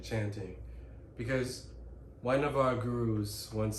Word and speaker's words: guru: Because one of our gurus once said, Guru is the correct pronunciation, once said, to quote Swami Sri Yukteswar Giri, that is my lineage.